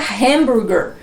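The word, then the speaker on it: hamburger: comer comprar um hambúrguer nos estados unidos nos países falantes de língua inglesa um hambúrguer né variando também sempre o sotaque mais dentro de generalizando aí a sua pronúncia como fica hanburguer então se você chegar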